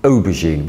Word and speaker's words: aubergine: can see that the the stress is on the first syllable because we say aubergine we don't say aubergine or aubergine we can see that